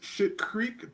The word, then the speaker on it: Schitt's Creek: It's pronounced Schitt Creek, but it's spelled SCHITT. Yeah. That's the name of the town. Schitt's Creek.